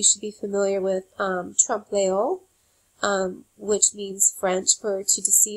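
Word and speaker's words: trompe-l'oeil: There's also a word that you should be familiar with um trump um which means French for to deceive the eye. Um, it's spelled t r o m p e um hyphen l apostrophe o e i l trao.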